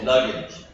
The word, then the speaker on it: luggage: very good luggage luggage no not like not luggage L yeah this one is a j it's a j so luggage Lage much better this John John yeah